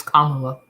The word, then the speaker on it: Kamala: Why did you say it? Kamala. Ain't that it? It's Kamala.